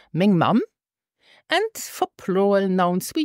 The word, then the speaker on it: meng: yes m mom and listen also here for the pronunciation it's pronounced Ming Ming Ming and for plural nouns